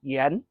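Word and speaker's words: 盐: And number four is our topic of the day, yen. It's like saying Ian, the name Ian, you just say it quickly, yen.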